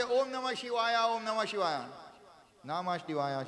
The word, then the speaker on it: Shiva: Like you get a cough in your belly. Shiva. Yeah. Not an ah. No ah there at all.